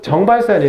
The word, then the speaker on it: 정발산: 바로 정발산이 약간 어려워요. 네, 여기에는 왜냐면 쥐 발음이 숨어 있어요.